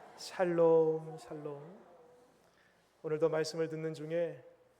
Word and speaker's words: 샬롬: 발음을 잘하셔야 됩니다. 살놈 죽을 놈이 아니라. 샬롬.